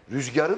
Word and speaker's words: rüzgar: ifadeyle telaffuzla söyledim bir Rüzgarı da güzel söyledin Rüzgar Aslında zor söylenebilecek bir rüzgar denir uzatma yumuşatması yapılmaz beni nasıl dinliyorsunuz Siz Ben